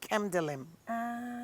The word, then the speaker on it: Kemdelim: So the N is silent. Delim, The N is silent. Yeah. Kemdelim.